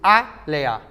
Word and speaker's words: Alia: Alia pronuncia-se Alea.